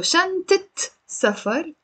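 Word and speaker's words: شنطة سفر: and has a father the moment i come and i pronounce the te marbuta here the fat ha becomes the kasra al fat habit and this applies a hundred percent of the times in the lebanese dialect when you're pronouncing if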